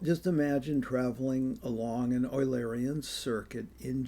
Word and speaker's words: Eulerian: Incidentally as to the pronunciation of this word in German eu is pronounced oi. So it would be oarian. oarian which is the way I've been pronouncing it in English there's a temptation to pronounce this uleran and and and the